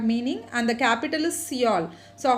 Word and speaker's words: Seoul: So just you have to include that E and pronounce it as Seoul.